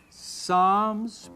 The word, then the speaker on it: Psalms: prom no it's proverbs the p is silent psalms probably not proverbs possums